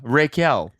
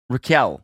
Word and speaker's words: Raquel: of what it Raquel how is it actually pronounced tell me yeah Raquel because I was saying Reiko as a joke